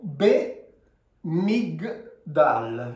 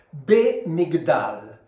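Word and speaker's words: בְּמִגְדָּל: Qui leggiamo be-mig-dal, cioè questa qui si legge, siccome c'è questo puntino, questa qui diventa una B, quindi be-mig-dal.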